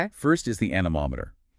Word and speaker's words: anemometer: First is the anemometer. a n e m o m e t e r Pronounced an- mom- ater.